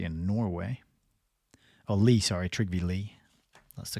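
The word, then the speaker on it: Trygve Lie: all right who we got here this is triv Li the first Secretary General of the UN he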